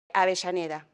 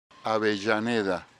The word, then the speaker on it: Avellaneda: Remember in Argentina, the double L is a sh sound. And I've asked a couple locals to pronounce it for me. Avellaneda. Avellaneda.